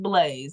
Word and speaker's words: Blazee: on here yeah it's and it's pronounced Blaze not Blas not blaz e I don't know some